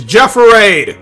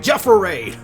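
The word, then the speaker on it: Jefferade: pronounce your name it's jro right it's Jeffer raade how do you not be able to pronounce it what does it look like it's like Gatorade Jeffer raade it's delicious I like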